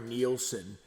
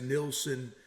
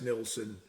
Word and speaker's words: Nilsson: It's spelled Nilsson. So I don't know how you get Nielsen out of that, but there are still a huge preponderance of people who call him Harry Nilsson, and there's no E in it.